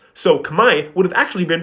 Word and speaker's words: Khmer: well you know that R isn't pronounced at the end of the word so no need to respell it you know it's pronounced kamay but when the French